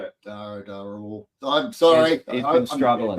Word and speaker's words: Dharawal: Did I pronounce that right? Dharawal. Yeah, mate. You know, Dharawal is what I go by, but I'm happy that you definitely nailed it there, mate.